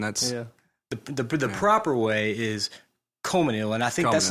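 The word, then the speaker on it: Colmesneil: the proper way is Comanil, and I think that's Comanil. not even proper. I don't think you're supposed to say the first L.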